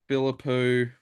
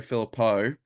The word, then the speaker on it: Philippou: Francis, McRae, Bailey Smith, Philippou, sorry, Philippo, it's pronounced Philippo, and Caleb Daniel.